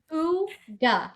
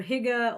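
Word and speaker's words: hygge: It's pronounced hooga like h o o d- g a ha. And for people that are listening, so you might think it looks like hig or higa or I I know it as huga as well.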